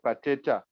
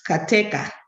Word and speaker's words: Kateka: And you tried to pronounce the names correctly, except the last one. It's Kateka. K-A, yes, K-A-T-E-K-A. Thank you very much.